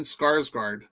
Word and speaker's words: Skarsgård: Stellan Skarsgård.